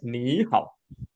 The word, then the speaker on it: 你好: 很好，很好很好。Again, the three tone 你好 we must read as 你好 Me.